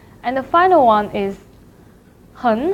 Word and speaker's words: 很: third tone syllable, so the word 很 should be changed to the second tone, 很, 很好.